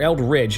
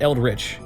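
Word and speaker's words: Eldridge: at least 40 Kelts the eldri or ELD Ridge not eldri judging from the condition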